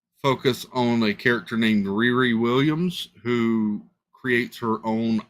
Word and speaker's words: Riri: in essence did you say her name was rerun like what's happening what did you say her name was no Riri r-i-r-i Riri okay I don't know much about